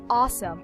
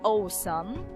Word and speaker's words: awesome: it like for example you would say awesome so now that you are aware with the vowels so ah awesome it's not awesome okay guys so these